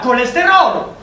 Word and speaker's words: cholestérol: mais c'est vrai que je confonds en français par exemple les che et les queues. Je ne sais pas pourquoi est-ce qu'on dit chocolat, mais cholestérol. Ça s'écrit tous les deux avec CH.